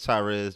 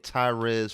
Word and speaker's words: Tyrez: uh two weeks uh well my name is tyres you can find me on social media at tyres for pre T RZ number four p r